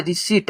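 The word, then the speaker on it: receipt: देखिए पी है तो पी को हम लोग हटा देते हैं तो ये हो जाएगा भाई रिसीट हो जाएगा रिसीट इसको री सी ट पी तो हट जाएगा तो रिसीट मतलब हो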